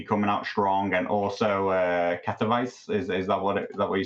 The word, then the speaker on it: Katowice: Team Bolter really, really coming out strong, and also Katowice. Is that what you said the pronunciation is? Katowice.